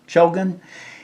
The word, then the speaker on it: Chogan: a point of information Shogun Cho c-h-o-g-a-n as pronunciation Shogun is the Native American name for a black